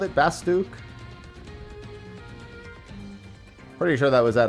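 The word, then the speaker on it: Bastok: Yeah, apparently Bastock is Bastook, as an example. According to... I think they said that at a fan fest, didn't they? They called it Bastook.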